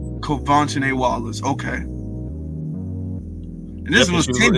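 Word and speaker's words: Quvenzhané Wallis: her that was her her her name is pronounced kovan Wallace kovan Wallace okay and this was 10 years ago Lord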